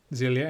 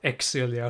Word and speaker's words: Xillia: I know most people prefer Xillia, and yes, that is how you're supposed to pronounce it, not Xillia or something.